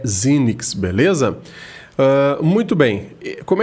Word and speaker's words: Xenyx: for ler tentar né ler o fonema em português aqui ao pé da letra parece ser Fênix né mas a pronúncia correta seria Zini tá até nos próprios vídeos né que de tenda Behringer pode dar uma olhadinha lá a pronúncia dessa série desses mixeres da Behringer é zinnyx beleza muito bem como